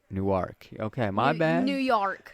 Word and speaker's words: Newark: Jersey nework newk but how you say it is nework yeah not new it's not New York you said New York it's nework Newark okay my bad New